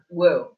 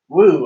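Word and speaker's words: Wu: I mean, do you want to try to pronounce it? Woo. Woo.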